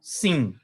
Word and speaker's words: Sin: O pontinho aqui em cima, Shin. O pontinho do outro lado, Sim. Então, essa aqui é uma letra que tem duas pronúncias, né? Uma é SH, Shin, e a outra é Sim, sem o H.